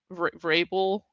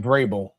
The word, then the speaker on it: Vrabel: Vable. Yeah. Um Mike Vrabel.